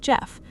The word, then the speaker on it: Gef: Its name, it said, was Jeff, spelled G E F, pronounced like Jeff.